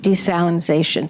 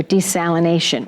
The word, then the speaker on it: desalination: in holding hearings on desalinization so or desalination which is the correct way to say it and we're going to